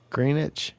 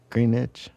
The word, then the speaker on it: Greenwich: Greenwich? You don't say the W How How is it? I know it's not necessarily pronounced like I say it. Somebody's told me that before. Greenwich?